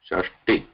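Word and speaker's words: षष्टि: T, this is Alpa Pranata, not Tha, not Shashti, Shashti.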